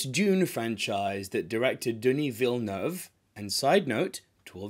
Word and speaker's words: Villeneuve: français, je suis français, stop saying Denis Villeneuve. Look at my mouth. Villeneuve. It's a very, very slight F. Villeneuve.